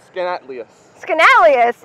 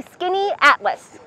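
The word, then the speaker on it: Skaneateles: can't do it but skin atlus skanus it's actually skinny Atlas skinny Atlas skinny Atlas all right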